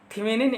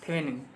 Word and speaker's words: Thevenin: देखने के लिए इस सर्किट को जो है थेवेनिन इक्विवेलेंट सर्किट में कन्वर्ट कर लिया जाता है।